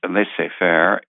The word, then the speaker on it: laissez-faire: It's laissez-faire. I think that's the correct pronunciation.